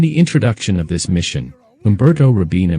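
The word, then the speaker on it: Umberto Robina: introduction of this Mission Umberto rabina mispronounces his name as Umberto Rabino what's your problem they're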